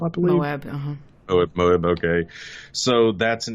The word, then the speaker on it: Moab: The monolith, of course, shows up near, how's it pronounced? Moab, I believe? Moab, Moab, okay.